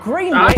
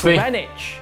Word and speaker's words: Greenwich: It's not Greenwich, it's Greenwich.